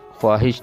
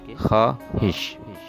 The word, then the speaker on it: خواہش: میں بھی خے اور الف کی آواز نکلے گی اور زبر کے ساتھ کہ خواہش، خواہش نہیں بلکہ خواہش۔ اگلا لفظ ہے وجود۔